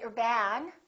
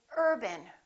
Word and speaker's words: urban: you success another example the word Urban we don't say you're bad we say Urban repeat after me Urban we stress this part and we reduce this part if you say or ban once again it sounds like a completely different word it's very important to